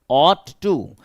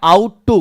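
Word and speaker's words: ought: यू जी एच टी ऑट टू आप इसे पढ़ देते हैं आउट टू पढ़ना गलत है ऑट टू पढ़ेंगे ऑट टू ही ऑट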